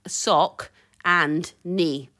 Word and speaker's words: Saucony: either it is actually if you look up their pronunciation on to the Google it is sock and yeah it's easy to just say literally say sock sock and knee yeah that's how you should say it and it's it's hooker